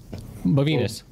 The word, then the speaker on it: Bovinus: Bovinus. Bovinus. Right. It rhymes with genitalia. It rhymes with small penis, which is back to you and your hairless little balls.